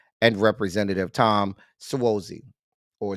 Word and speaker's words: Suozzi: Representative Tom Suozzi or Swazi. The Informed, you done been here, The Informed. You know me. You know I'm about to dog them and drag them. It's Swayze. It ain't spelled like Swayze.